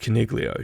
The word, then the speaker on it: Coniglio: His name's pronounced Caniglio, surely. Well, maybe there's a G there. It's clear as day. Maybe it's an Italian phrase in Coniglio or something like that. Coniglio, is it? Soft J, like jogging, but it's a G, Is his nickname Cogs?